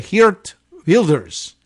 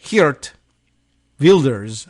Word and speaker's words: Geert Wilders: I think they would say Geert Wilders. Geert Wilders in our anglicized version, but Geert Wilders, I think, is how they would say.